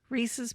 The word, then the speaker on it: Reese's: come over there it's it's really not received pieces it rhymes with pieces reese's pieces but why would